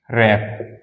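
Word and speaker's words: wrap: हमारे एग्जांपल हो जाएंगे एग्जांपल जैसे मैंने कहा रप रप मीस क्या होता है आप लोग बताएंगे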